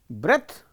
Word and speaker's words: breath: Breath, e is added, it becomes a verb form. Breathe. Breath is a noun. Breath, the pronunciation. We say breath, not breathe. When it is verb, it is pronounced breathe.